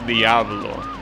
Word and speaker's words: Diablo: Okay, so interestingly enough, I thought that Americans pronounce this Diablo. They're actually pronouncing it properly. It's Diablo. That's how you pronounce that word. It means devil in Spanish and probably in Italian as well.